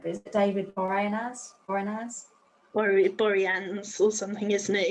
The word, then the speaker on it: Boreanaz: I probably can't pronounce his name right, but is it David Boreanaz? Boreanaz or something, isn't it? Boreanaz.